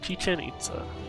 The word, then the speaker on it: Chichen Itza: Chichen Itza. Okay. Thank you for the phonetic pronunciation.